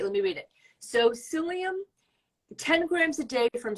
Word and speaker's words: psyllium: PubMed or just Google psyllium and it's spelled for the people listing it it's spelled p-s-y-l-l-i-u-m not not with an S so p s y so Google psyllium and